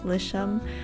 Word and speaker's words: Lisham: I realized that people don't know how to pronounce it, which is kind of funny because so some people call me for short, and my last name is Shum.